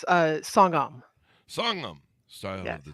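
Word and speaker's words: Songahm: Did I get that pronounced right? Sogam? Yeah, it's Songam.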